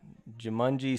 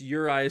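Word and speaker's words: Juraj: I know it's a common one that gets mispronounced. This one, good luck. Jumanji Slavkovsky. You nailed the last name. Really? Yeah, it's sweet. It's Slavkovsky. But the J's are once again silent, and it's Uri Slavkovsky.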